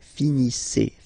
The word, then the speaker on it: finissez: Okay, a Z at the end gives you the sound E. Okay, finissez.